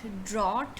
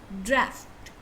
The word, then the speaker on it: draft: here is this now this is not drawed or something like that it's draft you you say simply draft draft right now another mispronounced